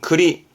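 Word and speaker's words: 庫裏: 뒤에 있는 창고다 뜻인데 발음이 특이해서 적어 봤네요 발음은 크리 크리 전부 다 코 하다가 이때만 크 하지만 예 참고적인 부분 있니다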